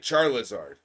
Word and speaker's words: Charizard: I've called it Charizard because it's pronounced Charizard.